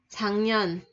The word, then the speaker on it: 작년: 작년, 작년. Chỗ này mình sẽ đọc là chữ G, 작년.